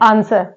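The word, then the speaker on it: answer: okay ऐसे ही अगला word है आंसर आंसर में डब्लू साइलेंट लेटर है नॉर्मल हम लोग पढ़ते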